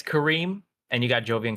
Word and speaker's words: Karim: Did I pronounce that correctly? Yeah, it's Karim, and you got Jovian correct.